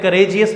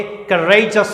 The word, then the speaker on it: courageous: Native speakers कैसे होता है, बहुत सारे बोलते हैं करेजियस बोलते हैं, इसे रॉन्ग है, ये करेजस होता है।